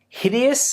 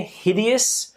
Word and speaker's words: hideous: next one is hideous hideous again with the pronunciation there hideous stress on the eye hideous extremely ugly or